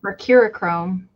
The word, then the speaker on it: Mercurochrome: Mercurochrome.